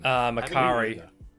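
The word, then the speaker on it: Makkari: Makari. Yeah, having her. A car in it, Jason. Having her be And mute. it rhymes with Ferrari.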